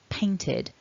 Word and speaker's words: painted: Similarly, with this id on painted, if you're wondering why it's an id and not an ed, check out the description below.